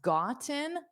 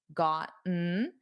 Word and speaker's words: gotten: So, notice the first time I pronounced it with the Ts. I don't normally do that in spoken fast spoken English. I would do the glottal stop. Gotten. Gotten. But you can absolutely say gotten.